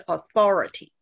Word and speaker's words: authority: authorize， also no， authorize， also rise，然后 authorize， authorize， that's right， authorize。好，然后名词是 authority。